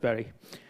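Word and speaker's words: Bury: This one, Berry, it's pronounced Berry, is an absolute train wreck.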